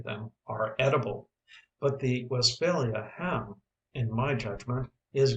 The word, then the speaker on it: Westphalia: are edible but the Westphalia have in my judgment is greatly overrated it is pronounced West failure with the accent on the last part where it belongs in Germany however there